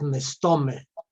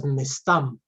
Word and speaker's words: mestam: came from Bessarabia, and they used the word pronounced as mestome. But for us, Galicianer, the pronunciation was mestam, like in Hebrew, minhastam. Minhastam. But they used mestome.